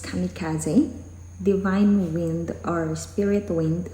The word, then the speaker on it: kamikaze: So it's a video about the kamikaze fighters, or according to Wikipedia, kamikaze, pronounced kamikaze, divine wind or spirit wind, officially is Shinpu Tokubetsu.